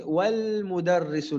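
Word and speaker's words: وَالْمُدَرِّسُ: Le alif, ici, on ne l'a pas prononcé. Pourquoi? C'est la règle justement du hamzatul wasl. Donc, hamzatul wasl, ils appellent ça en français le hamza instable. Donc, sa règle à lui, c'est que lorsqu'il commence la phrase, ou après une pause, on prononcera ce alif-là. Mais lorsqu'il est en milieu de phrase ou entre deux mots, on ne prononcera pas ce alif.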